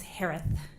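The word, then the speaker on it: Herath: Last name is pronounced like Harris with a lisp. It's Harith.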